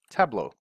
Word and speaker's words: Tableau: we're gonna type in tableau right and if you have trouble spelling or pronouncing and just remember it's table or La Mesa if you're from Spain a you okay so La Mesa table au Australia an Australian table